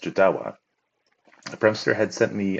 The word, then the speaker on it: Jodawo: is by a Setter whose name Untold is pronounced jadawa the pramster had sent me a message earlier